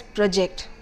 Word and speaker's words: project: Now there are two ways of pronouncing this word. One is project and the other is project. Alright. Now when you say project, the PRO is pronounced long.